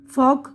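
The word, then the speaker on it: folk: ये देखिए, इसमें देखिए यहाँ पर बता रहे हैं एल साइलेंट है। हथेली, पाम, काम, सुकून, हाफ, निस्फ यानी आधा, वॉक चलना, फॉक गुरोह इंसानी, टॉक गुफ्तगू, शुड चाहिए, वुड जाएगा, कुड सकना।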